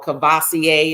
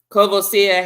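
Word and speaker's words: Courvoisier: actual logo okay so just like kavos uh or cavasier is what most people say but that's not the correct um French French pronunciation um kosia has a logo which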